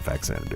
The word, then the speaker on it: Faxanadu: back then and um faxanadu or fanu however you want to pronounce I pronounce it faxanadu that's that's what we always called it so um there's a